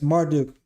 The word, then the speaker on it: Marduk: Yes, Marduk.